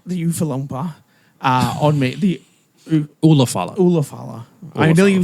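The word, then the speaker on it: Ula Fala: to win and you're going to put the Ufalafa on me. the Oompa Loompa. The Ufalumpa on me. The Ulafala.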